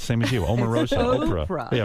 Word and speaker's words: Oprah: Omarosa, Oprah. Oprah. Yeah, right. It's a hard O, same as you.